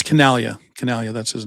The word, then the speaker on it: Chinaglia: Canalia, that's his name.